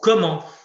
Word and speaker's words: comment: Alors, comment, c'est un petit peu la même difficulté que quand. Pourquoi ? Parce qu'on ne prononce jamais, normalement, le T, ni dans une question, ni dans une phrase affirmative.